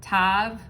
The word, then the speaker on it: tav: letter that represents the world card as um tav or t-a-u or if you spell it out t-a-v how it how it's written